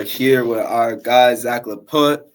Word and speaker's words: Laput: with our guy Zach leut did I say it right leut yeah that's right okay we're here with